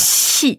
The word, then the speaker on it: 七: On avait dit le QI, le Q, c'est un peu comme TCH pour les Français. Ouais. C'est ça. Tout à fait. Mais ça fait TCHI, du coup, ça fait chi. Mm. Il y a beaucoup d'air qui sort.